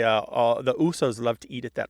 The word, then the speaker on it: Uso: might say uh the Usos love to eat at that restaurant meaning Samoans love to eat at that restaurant and it's shortened to oo to rhyme with moose or goose and not just in